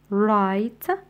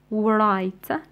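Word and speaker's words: write: حرف الايتش والكلمه الاخيره رايت رايت لا نسمع دبليو اذا نشطب عليها رايت لا نقول ورايت نقول رايت واخيرا وصلنا الى بارت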